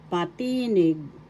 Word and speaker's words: patinig: katinig consonant singular with s plural consonants and we continue pa patinig patinig vowel or vowels in English first syllable pa second syllable t third syllable nig the accent is in the second syllable patinig patinig vowel or vowel